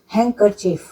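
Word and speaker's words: handkerchief: हैंडकरचीफ, हैंडकरचीफ नहीं होता है हैंडकरचीफ, तो इसमें भी डी साइलेंट होता है।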